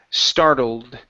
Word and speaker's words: startled: is startled right here Ed ending instead of startled it's startled star almost almost so you're pronouncing this e right before the D the E is silent it's startled startled startled